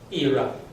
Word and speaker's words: ìrà: This one should be IRA. Double down note on the one down note on the down accent on the I and down accent on the A.